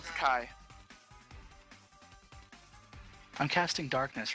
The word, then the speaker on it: Ki: spending two Kai points to cast uh Kai Chi Kai if it's Chi I would say chi K it's pronounced Kai I'm casting Darkness right here so uh magical